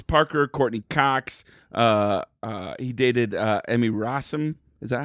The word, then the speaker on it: Emmy Rossum: He dated Emmy Rossum. Is that how you pronounce it?